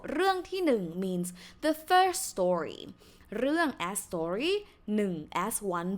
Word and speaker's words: เรื่อง: on the word เรื่อง So this word นะคะ is pronounced เรื่อง Why? Because you can see it's รอเรือ right? And then the vowel is สระเอือ So สระเอือ see 3 letters นะคะ and it's how to say complex vowel has two vowel sounds and and so เอือนะคะ therefore this word is pronounced เรื่อง with งองู ending consonant falling tone เรื่องนะคะเรื่องที่หนึ่ง This is a